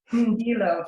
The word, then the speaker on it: Ndilo: River is a member of the Yellowknives Dene Nation, and please help me with this pronunciation, River. Ndilo? Ndilo, thank you.